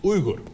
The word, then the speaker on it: Uygur: Look, my name, Uygur, is actually not pronounced Uygur. In Turkish, it's Uygur.